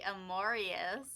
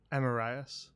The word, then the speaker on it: Amorius: Amorius. It is pronounced Amarias.